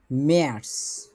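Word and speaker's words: März: তারপর ম্যার্স, উমলাউট আছে, এটা দেখতে পেয়েছি আমরা, এটা খেয়াল রাখতে হবে।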